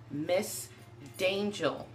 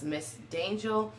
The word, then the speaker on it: Miss Dangel: screen name is pronounced Miss dangel it's like danger but it's dangel with an L on the end it symbolizes Dark Angel